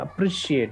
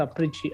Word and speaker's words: appreciate: attitude okay i appreciate it's actually appreciate it's not a preachy appreciate okay the way you are pronounced is not appropriate so you should have pronounced this word properly okay so this one was unfortunately mispronounced you should say i would like to appreciate so it's appreciate okay that's how we need to pronounce okay it's not sia